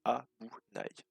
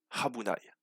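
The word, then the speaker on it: 危ない: Voilà, donc Abunai. Le U ne se dit pas U, mais Habunai.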